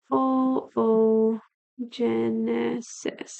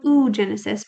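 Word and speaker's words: oogenesis: called oo Genesis so o Genesis it's spelled like oo Genesis but it's O Genesis that's egg formation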